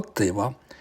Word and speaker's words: Tyva: from the Sayano-Shushenskaya Dam in Tuva, or Tiva, different pronunciations, in southern Siberia.